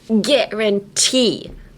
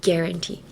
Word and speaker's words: guarantee: we picked up but in this case um emphasize the T like guarantee. And there you have it. Guarantee.